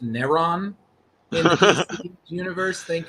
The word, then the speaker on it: Neron: It's pronounced Neron in the DC universe.